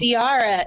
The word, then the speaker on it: Diarra: first three episodes of diara in Detroit and the thing is is that I love Tiara I was saying it right then I yeah you are it's like Tiara but with a d you as a writer